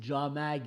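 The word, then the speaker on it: jāmag: Sogdia Padrav, Yamak, disons, ça devait se prononcer Jamag et ici ça devait se prononcer Jamé, et notre Polwo.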